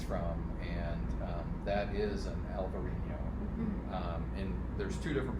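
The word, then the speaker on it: Albariño: and that is an albarino um and there's two different pronunciations like a lot of things in wine alberino would be the spanish pronunciation in alvarino a little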